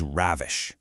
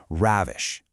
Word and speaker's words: ravish: I want you to firmly anchor it in your mind so that it rhymes perfectly with the word lavish.